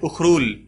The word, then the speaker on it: Ukhrul: ये मणिपुर में एक डिस्ट्रिक्ट है जिसका नाम है उखरूल, इसकी स्पेलिंग होती है UKHRUL, उखरूल।